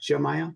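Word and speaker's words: Yemaya: It's pronounced Jamaia, but it's spelled Yaya.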